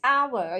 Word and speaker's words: hour: But you say an hour, because when you pronounce hour, you pronounce this beginning sound starts with a vowel, not with a H.